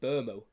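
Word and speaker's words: Mbeumo: bit hard and then Brian in is actually just Brian bermo that's how you say it there's no M it's just burm it's a silent M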